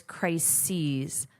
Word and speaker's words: crises: So the pronunciation is crises. Sees just like she sees.